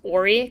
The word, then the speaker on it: Horry: he just said that the H is silent so it's Horry County and it's the county